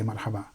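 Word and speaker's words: مرحبا: other word after it the last vowel is not pronounced so here people sayaba okay so that's not what says if there's no words after this then you can say Marhaba okay so when someone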